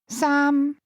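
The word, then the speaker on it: 三: Here, the only difference is in context as both are pronounced using a mid-level tone. Similarly, three saam is another number thought to bring good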